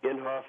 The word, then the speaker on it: Inhofe: uh we go to your website how uh inhoff dos senate.gov inhoff is spelled I NH h f inhoff dos senate.gov